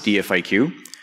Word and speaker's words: DFIQ: note on pronunciation uh I pronounce this dfq if you try to pronounce it as a word you will get very interesting results so what's dfq it